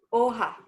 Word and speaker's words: hoja: Hoja. Ajá, Hola. la No, no, hoja, no sonida.